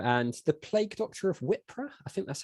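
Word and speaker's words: Wippra: 5th cool uh and the plague doctor of wipra I think that's how you say it yeah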